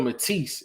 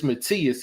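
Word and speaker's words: Matías: One of the guys said, you pronouncing it Subriel Matisse. It's Matthias.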